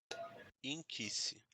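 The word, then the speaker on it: nkisi: Inquisice. Se eu for escrever, não tem o I. É ninquice. O n é mudo. N K I S I Nquisse, mas a pronúncia é inquisice.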